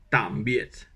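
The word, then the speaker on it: tạm biệt: Donc, tam, comme tam, T-A-M-E. Et ensuite, biet, biet. Mais il faut mettre un point sous les deux. Et un point, ça se prononce comme quand on est surpris en français, ah. Donc ça fait tam, biet.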